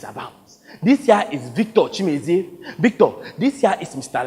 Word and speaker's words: Chimezie: Same here, Chimezie, but please, just call me, okay? All right, it's Chimezie.